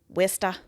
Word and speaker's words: Worcester: I'm going to try and pronounce these correct. Norfolk. Worcester.